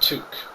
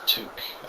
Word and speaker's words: toque: right here it's pronounced took i know it's not spelled toque but it's pronounced took um i do not